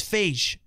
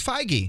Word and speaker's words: Feige: okay calm Kevin Feige I thought it was face no it's foggy it's like 150 like beige yeah I mean I